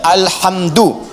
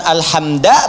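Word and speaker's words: الحمدُ: Dibacaannya alhamdu, bukan alhamda pakai fathah atau alhamdi pakai kasrah.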